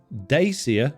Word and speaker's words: Dacia: of the Dacia, well, currently it's called Dacia according to the advert. It's definitely not a Dacia. I don't think the people at Dacia know how to even pronounce their own car's name.